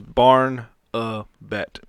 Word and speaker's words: Barnabet: don't know why yeah barnabet barna it's barn uh bat yeah but it's spelled